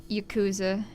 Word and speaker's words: Yakuza: Also, he just pronounced it Yakuza, which is Indeed. technically right, but it's more supposed to, because since Japanese is really weird, they don't put emphasis on syllables. It should be more like Yakuza, but I don't know. The Yakuza.